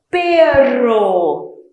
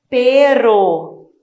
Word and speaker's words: perro: Ó a diferença do som. Perro. Perro. Perro. Cachorro em espanhol, tá? E pero é uma conjunção que significa porém. Raton. Então, olha só a pronúncia. No meio da palavra, som vibrante. Perro. No início, também o som é bem vibrante. Raton. A língua treme dentro da boca.